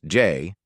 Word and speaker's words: Jai: want to do it ji pronounced Jay had always been my